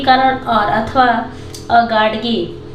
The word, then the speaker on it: Gadge: पे मॉडर्न, इसको मॉडर्न पढ़ते हैं, आर इसमें साइलेंट रहता है इसलिए जल्दी से पढ़ते हैं मॉडर्न। गाडगे, ठीक है, इसको पढ़ते हैं गाडगे महाराज, ठीक है।